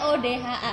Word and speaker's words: ODHA: Oh, bacanya ODA. Selama ini aku bacanya ODHA. Gitu. ODHA it's okay, ODA juga nggak apa-apa, boleh.